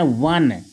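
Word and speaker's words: one: सा डॉट डॉट वन इसको पढ़ना है वन वन वन नहीं पढ़ना ऑन वन इसकी जो इसका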